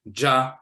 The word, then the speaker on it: Dja: In Ivory Coast, they just say ja, and they'll spell it DJA, but either way it's ja and so forth.